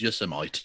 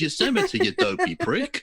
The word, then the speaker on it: Yosemite: him awful speech and he pronounced yosemite as your semite yeah i saw i didn't see the name repeated it wrong he said it twice wrong and i was like oh you know it's yosemite i'm not even from